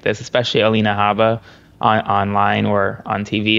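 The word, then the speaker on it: Habba: clip of her Aaron Alina Abba on or Haba somebody said please pronounce the h Haba um on Newsmax giving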